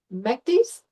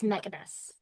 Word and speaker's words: Megadus: Your full name is it Mekdis? It's Megadus. Yes, three Okay. syllables. Yeah.